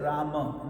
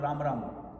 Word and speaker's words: Rama: Now notice I said Rama, not Ram Ram, because this is a 32 syllable mantra.